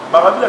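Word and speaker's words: Maravilia: Maravilla, c'est mon âme. Maravilla est coquille. C'est en portugais. En portugais, c'est Maravilla. En français, ça s'écrit Maravilla. M-A-R-A-V-I-L-I-A. En français.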